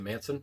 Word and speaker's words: Mansun: I guess Manson is how it would be pronounced, but there's a U instead of an O.